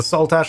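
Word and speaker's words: Saltash: continued this way - heck someone allow the salt ash on the border between Cornwall and Devon in the UK you're pronouncing it perfectly sweet that's good to know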